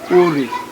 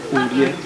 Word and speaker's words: Ore: If you want to pronounce it, it's Ore, not Orie. Orie is an English word.